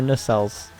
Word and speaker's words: nacelles: Is that its pronounced? Yep. That's one part of air. No, I'm just kidding. They're nacelles.